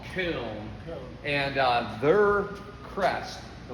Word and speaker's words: Köln: Oh, Okay, where in German it's called Köln.